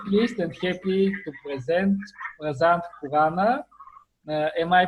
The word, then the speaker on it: Prasant Khurana: podcast, I'm very pleased and happy to present Prasant Khurana. Am I pronouncing your name correctly? You Yes, are, for the yeah, most people butcher that name. It's Prasant Khurana, correct?